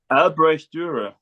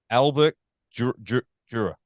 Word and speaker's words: Albrecht Dürer: Now, how do you pronounce his name? Because my Australian ruins everything. Albrecht Dürer. Albrecht Dürer.